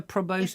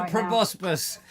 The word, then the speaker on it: proboscis: preposterous both i think you're saying it wrongly an insect yes that's right with the isn't it a proboscis they're mouthpieces yes they're proboscis mosquitoes have them the probosc everybody because you've said it wrong a few times though everybody wants a